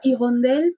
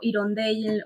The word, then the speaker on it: Hirondelle: Bueno, en realidad se pronuncia como Igondel, Sí. pero bueno, a veces también digo Irondel o Irondelle o bueno, libre albedrío con eso.